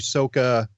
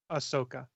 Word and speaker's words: Ahsoka: Dawson casting is I'm thinking we'll get your Sokka is Sokka or how do you pronounce it Chris ahsoka ahsoka so I think we're gonna get the